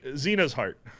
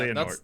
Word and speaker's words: Xehanort: And there's a bad guy you meet right away whose name I can't pronounce, so I refuse to. Xehanort. Try. Yeah, No. Xena's heart.